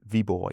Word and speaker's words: Viborg: uh proximity zone one in Viborg, I thought, but do you have a different Viborg, yeah, that's how it's pronounced here.